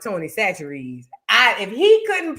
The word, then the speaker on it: Chachere's: while to understand, and I think that's the way you pronounce it, Chachere's.